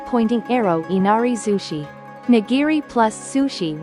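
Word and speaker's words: 稲荷寿司: Inari zushi nigiri plus sushi right pointing arrow nigiri zushi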